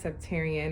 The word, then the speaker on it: Septarian: Septarian, I believe is how you pronounce it.